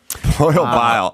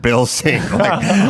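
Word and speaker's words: Babin: So the congressman comes up and he's like uh my name is Brad Biling. You should know it's not boil bile.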